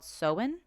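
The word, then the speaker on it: Samhain: of celtic festival and the town name is spelt s-a-m-h-a-n not the town but that's what the festival was called it's called it's called sowen okay and i guess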